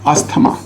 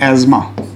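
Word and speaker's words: asthma: एंड इट इज़ द अस्थमा। अब हम कहते अस्थमा है क्योंकि अगर सही प्रोनाउंसिएशन कर देंगे तो हो सकता है कुछ लोग को तकलीफ हो। इसका सही प्रोनाउंसिएशन है एज़मा।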